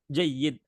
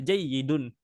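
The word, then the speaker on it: جيد: Nah, jayyid di sini sebenarnya harokat akhirnya jayyidun. Ya, jayyidun. Jayyidun ya, tapi dikarenakan kita bacanya waqaf ya, jadi kita tidak baca harokat akhir yang ada di huruf dal ya. Jadinya jayyid, jayyid kita wakafkan.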